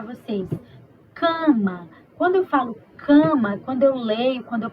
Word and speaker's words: cama: eu deixei para vocês cama quando eu falo cama quando eu leio quando eu pronuncio cama eu não tô falando assim ó